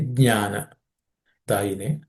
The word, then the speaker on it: Jnanadayini: Again, the Jna with G it should start. So J it should start rather than G. Okay, Jnana Dayine.